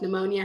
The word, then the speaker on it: pneumonia: and in the beginning like pneumonia has a silent p um but i would